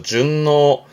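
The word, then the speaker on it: 順応: 조심할 건 응이 발음이 기본은 5입니다만 준 이거 응 때문에 발음이 바뀝니다. 그렇죠? 준노 순응하다.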